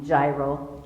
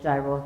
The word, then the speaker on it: gyro: to it's called a gyro in music it's a soft G gyro gyro not like what's a Greek food so this is a